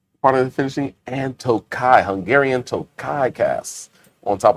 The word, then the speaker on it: Tokaji: But if you want to seem like you know what you're talking about and you see the word Tokaji, J's not pronounced, Tokai. Tokai.